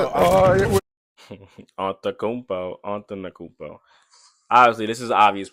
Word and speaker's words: Antetokounmpo: From the Milwaukee Bucks, Giannis Antetokounmpo. Is that how you say it? Antetokounmpo.